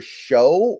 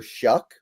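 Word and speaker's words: Shough: It's Tyler Show or Tyler Shuck. I've had some people tell me his name is pronounced Shuck, but it looks like it's spelled show, so whatever.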